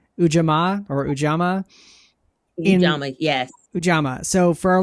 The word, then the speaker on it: Ujamaa: So you mentioned, I'm not gonna pronounce it correctly, Ujamaa or Ujamaa. Ujamaa, yes.